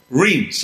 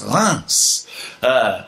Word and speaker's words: Reims: Reims. All right. So, you know, my wife keeps telling me, she says, you keep saying it wrong. It's not Reims. She says it's Reims.